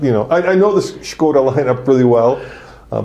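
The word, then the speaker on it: Škoda: the right way that the czech way is skoda which means i mean shame that one i can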